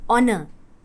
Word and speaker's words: honor: அதே மாதிரி honor, HONOR, first letter H ஆனாலும் சவுண்ட் வந்து O சவுண்ட், honor.